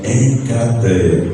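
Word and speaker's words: ἐγκράτεια: A palavra traduzida por temperança, domínio próprio, o autocontrole, nesse livro, nessa carta, ela é pronunciada enkrateia.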